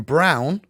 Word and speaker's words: Braun: As you can see, Christian Brown, even though his name is spelled Braun, I don't know why it's Brown, comes all the way